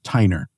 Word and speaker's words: Tyner: today is Jane Claire Tiner. And I did pronounce that last name correctly. Did I? Did. Okay. Good. Good. I assumed it was like Tyler but just with an N.